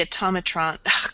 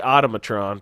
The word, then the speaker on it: automaton: yeah it looks more kind of like the atomic truant why do I always say that wrong um